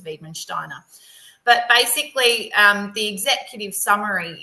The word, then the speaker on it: Wiedemann-Steiner: And so you'll hear me say Wiedemann-Steiner only because that pronunciation is burnt into my brain from her geneticist because it's a German it's from like a German geneticist found it. So that's where it's, you know, they pronounce it as Wiedemann-Steiner.